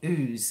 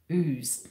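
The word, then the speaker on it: Ouse: I mean, we've got a town in Tasmania called Ooze. It's spelled O-U-S-E. Ooze.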